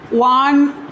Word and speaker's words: one: যেমন ওটা ওয়ার মতো উচ্চারণ হয়, ওয়ান আইড ডিয়ার। এই যে ওয়ান, ওটা ওয়ার মতো উচ্চারণ হলে এর আগেও এ হয়।